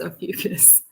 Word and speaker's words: Ophiuchus: I was saying it wrong for like half of the times I said it, but it is Ophiuchus.